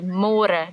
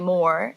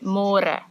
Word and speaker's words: môre: It's a little bit easier, but you have to remember to read môre because in English it's spelled like more. So don't say more, say môre.